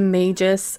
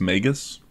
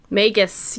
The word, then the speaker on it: Magus: older I think it's I think it's pronounced megus megus yes I said it in my head a million times and then I still said it wrong okay it's all